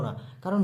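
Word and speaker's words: নেকড়ে: এর সাথে অ হলো না কারণ নেকরে আমরা যখন বলছি নেকরে ক টা কিন্তু পুরোটা বলছি না দেখো অল্প একটু উচ্চারণ হচ্ছে তাই এখানে ক এর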